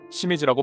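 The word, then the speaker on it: 清水: 우리는이 환자들을 조일립 청수라고 읽지만 일본에서는 아사이 히타치 시미즈라고 발음하죠.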